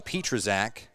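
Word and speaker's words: Pietrzak: season good contact and finally we have a correct way to say his name petrazak I've never said his name right all year long p-i-e-t-r-z-a-k and Petra's act swings and he goes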